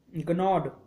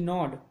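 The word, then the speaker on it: gnawed: something still जी नॉड गनॉड गनॉड still जी नॉड नॉड जी यहाँ पे silent होगा ना स्टिल नॉड अवे क्वाइटली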